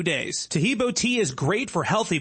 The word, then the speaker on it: Taheebo: Taheebo tea is great for healthy people because it helps regenerate cells.